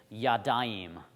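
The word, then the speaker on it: ידיים: So if I wanted to say 2 hands, I'd say yadayim. So yad, and then I'm going to add this ayim sound on the end. Yadayim.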